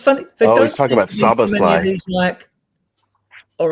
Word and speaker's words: Szoboszlai: Yeah, Dominic Szoboszlai, I assume that David is alluding to. Yeah, good Yep, pronunciation.